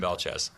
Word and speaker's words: Belchetz: and last name for us so we always pronounce it correctly? Uh Belche.